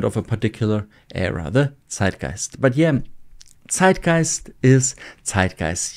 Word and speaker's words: Zeitgeist: Of course, you noticed zeitgeist is one of those German words and concepts that people can't really and also do not want or need to translate.